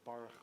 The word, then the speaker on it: Baruch: It starts with Baruch Hu. This the transliteration? Gold mark. It's not pronounced cha.